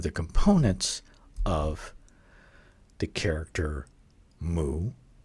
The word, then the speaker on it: 戊: We know that it's pronounced mu, and this one is pretty straightforward. Mu, mu. If you're a Zen student, you know how to say mu.